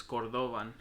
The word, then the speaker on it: cordovan: back in Spain cordovan the actual pronunciation for it is cordovan and the first part